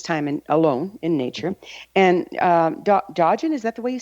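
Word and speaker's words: Dōgen: And Dogen, is that the way you say his name? Dogen, thank you.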